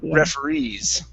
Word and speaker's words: referees: word is referees so the stress is at the very end referees okay very good and